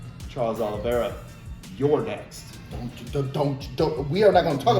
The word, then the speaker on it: Oliveira: tell you once again, we do not say Charles Oliveira. It is Charles Oliveira. Yeah. You got to stretch it out. That's how you say his name on this show, okay?